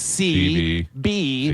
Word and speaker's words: Seabie: to pronounce it, you just pronounce it CB.